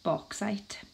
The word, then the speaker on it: bauxite: it's extracted from its ore which is called bauxite bauxite is spelled ba u X ite that's often a